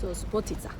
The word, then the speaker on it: Subotica: small town to the north of Serbia called Subotica Is that right, did I say it correctly?